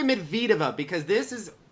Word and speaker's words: Medvedev: how do we say Medvedev up because this is pronounced so differently I know that it's mid vltava right the emphasis is on the second syllable right emphasis on the